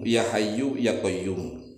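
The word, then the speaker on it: يا حي يا قيوم: Perbanyak zikiran ya Hayyu ya Qayyum, ya Hayyu ya Qayyum. Tetapi ingat nih cara membacanya, yu-nya dibaca, mu-nya dibaca. Jangan diwakafkan. Jangan diwakaf begini, ya Hayyu ya Qayyum, ya Hayyu ya Qayyum, ya Hayyu ya Qayyum, tidak.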